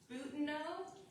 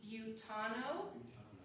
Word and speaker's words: Butano: Now, locals disagreed with how to pronounce it because I asked some locals, and one told me BUTANO, and one told me BUTANO. So, BUTANO. I used to work there.